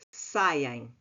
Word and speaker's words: saem: Parece que tem um i entre o a. Parece que aqui assim existe um i, mas não existe. A pronúncia é que faz com que pareça que ele existe. Saiem.